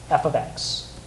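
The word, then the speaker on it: f(x): The second one has this f parentheses x. That's not how you say it. Does anybody know how you say f parentheses x? Yep. Yeah. F of x.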